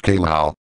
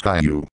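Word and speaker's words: Caillou: The sixth word that triggers a bug in my voice software is kae-lou. It's supposed to be pronounced as kai-yew.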